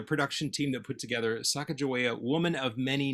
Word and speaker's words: Sacajawea: And we came to our pronunciation that we have chosen, which is Sacajawea.